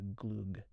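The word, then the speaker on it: glögg: I think it's spelled Glug, glug, but it's pronounced the Gloog.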